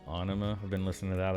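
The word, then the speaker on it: Ænima: Lateralus proved to be the commercial and critical gain of, I believe it's pronounced Anima.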